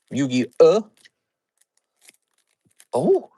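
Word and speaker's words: Yu-Gi-Oh: Snipus snip is Yugi. Oh, it's actually pronounced Yugi O.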